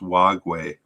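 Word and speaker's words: Wagué: he's still playing he plays for nantes in france but i am i've been pronouncing his name wrong i have a note that says it's wag way more wagway so um he may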